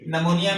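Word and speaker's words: pneumonia: जैसे हमने कहा है कि साइकोलॉजी में यहां पे पी साइलेंट है। निमोनिया में यहां पे हमारे पास पी साइलेंट है।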